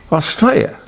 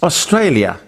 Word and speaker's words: Australia: But would somebody please tell him that this country, our country, is not called Australia. It's Australia. There's an L in there.